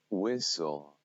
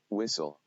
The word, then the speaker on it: whistle: some of the examples where um s t l e are present and then they are silent i'm not going to